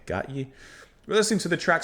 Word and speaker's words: Gotye: Today we're going to listen to, I believe it's pronounced Gotye. Not Kanye. Gotye.